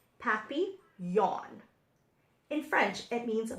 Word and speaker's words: Papillon: like our neighbor's dog you say it like this happy yawn in French it means